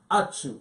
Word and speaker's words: Achu: Her name is Naomi Achu. Thank you. Naomi, thank you. I hope I did not pronounce the last name wrong. No, perfect.